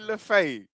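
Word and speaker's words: Le Fée: Say Le Fay. Enzo Le Fay. That's how you say his name.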